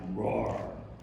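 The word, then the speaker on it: Rohwer: were approaching our can the camp is called Camp Road r o h w e r and the way they pronounce it it sounded like Roar Roar wrong and uh then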